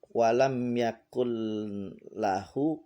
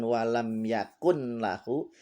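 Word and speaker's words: وَلَمْ يَكُن لَّهُ: di sini ada hukum walam Yakul lahu kufuwan Ahad bacanya bukan walam Yakun lahu tapi walam Yakul lahu ya Hai nun mati ketemu lam idgham bilagunnah ya kemudian kufuwan Nah anak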